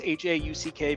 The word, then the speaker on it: Hauck: phonetically pronounced HK but it's hackk because my ancestry is German is what it is